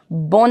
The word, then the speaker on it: bon: Again, coming from nasal, it's a nasal sound. Bon. N is silent for now.